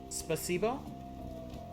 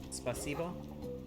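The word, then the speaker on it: спасибо: Spasibo? Spasibo?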